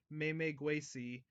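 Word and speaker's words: Memegwesi: riverbanks in Algonquin mythology their name is pronounced may make way see oh I saw I pronounced that horribly wrong the may migrate the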